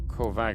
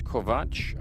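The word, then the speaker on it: Kovač: Um, I was being tweeted at by helpful members of the community saying it's it's not Kovac, it's Kovatch. Okay.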